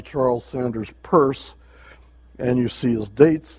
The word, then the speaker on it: Peirce: sanders purse pronounced at purse not pierce i think i spelled